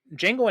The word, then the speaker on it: Django: in he was in Jango and chain that his great his great cameo in Jango and chain when Jamie Fox spells his name and he's like the D is silent Fran oo's just like